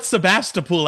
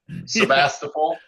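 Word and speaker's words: Sebastopol: We call it Sebastapool out here. We do. Sebastapole.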